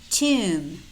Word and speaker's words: tomb: Notice how in many of these words we have MB clusters. And in these words, normally the B is silent. We only pronounce the M.